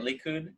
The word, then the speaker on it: Likud: So in the first election, it was how do you say it, Likud?